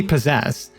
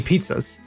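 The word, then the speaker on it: Pizzazz: apartment building called Penny possess now I didn't know that you pronounce it as Penny possess there so I called her Penny pizzas and she kind of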